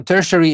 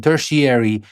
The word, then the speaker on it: tertiary: or tertiary education now tertiary is a British English pronunciation tertiary is an American English pronunciation but that's not the